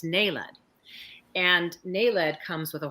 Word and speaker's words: naled: with diome the active ingredient is Ned I pronounced it naled because I read it but it's Ned and Ned comes with a whole host of